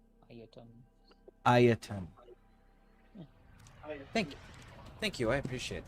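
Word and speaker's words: Ayatan: Ayata? Ayaton. So it's like Aya, then ton. Ayaton.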